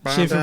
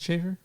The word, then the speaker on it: Schaefer: And Hunter, oh man, I don't know how to pronounce her last name correctly. Yeah. Schaefer Brown? Hunter Schaefer? Is it Schaefer? Yeah, Schaefer.